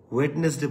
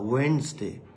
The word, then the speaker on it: Wednesday: Okay, so I will go there on Monday, on Wednesday, Wednesday বলবো না, Wednesday, হ্যাঁ, এরকম একটা উচ্চারণ আসবে, Wednesday, right?